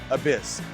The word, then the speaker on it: Abyzz: to figure out how to say it it's abyss let's say right before we get into anything